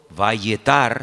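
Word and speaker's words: וַיֶּעְתַּר: cuando yo he dicho vayetar, significa orar porfiadamente, insistentemente. En el mismo versículo, cuando dice, y aceptó el Señor, ¿lo veis? Es la misma palabra, pero se pronuncia de una forma diferente, vayater.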